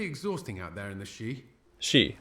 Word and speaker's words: Sidhe: It can be pretty exhausting out there in the Sidhe. She. Okay, yeah, it's just pronounced she.